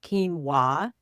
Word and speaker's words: quinoa: Quinoa that's spelled qu u i o n a and it's pronounced quinoa.